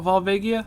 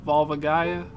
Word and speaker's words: Volvagia: pronouncing is so wrong so it's not volia Vol Vol Gia volvagia how's it supposed to